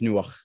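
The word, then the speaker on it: נֹחַ: And in scripture, the way that you pronounce Noah's name is Nuach.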